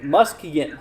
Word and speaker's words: Muskegon: said obviously here in um how do you pronounce that here Muskegon okay Muskegon here we're talking uh the temperatures